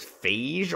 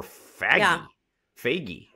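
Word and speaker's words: Fage: office you'll know but f-a-g-e for a yogurt literally to me either is phage or fagi yeah so that's that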